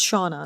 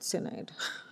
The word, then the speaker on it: Shauna: Oh, okay, so it's Shauna, not Sinead. I was pronouncing it inaccurately.